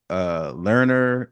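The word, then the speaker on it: Lerner: Learner Enterprises. How do you pronounce the name of the LER? You got Learner.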